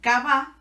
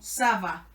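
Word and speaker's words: ça va: suene suave es decir en vez de sonar como cava va a sonar como Saba lo vamos a encontrar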